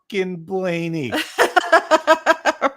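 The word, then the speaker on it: Blaney: that I got personally is his name is pronounced Ryan Blain right that was the cutest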